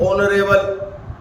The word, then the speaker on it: honourable: लगेगा क्योंकि इसका प्रोनाउंसिएशन कंसोनेंट जैसा नहीं है, इसका प्रोनाउंसिएशन कैसा है, वोवल्स की तरह।